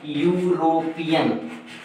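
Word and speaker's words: European: हम जरा देख रहे हैं यहां लिखेंगे ऐसे, यूरोपियन, ये यूरोपियन हो गया, यानी ये जो ई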